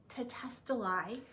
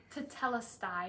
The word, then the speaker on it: Tetelestai: In ancient times, when a promissory note was paid, the one holding the note would write tetestelai. Tetelestai.